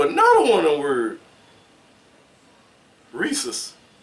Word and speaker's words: rhesus: Rhesus. Because it's RHESUS. Something is silent right there.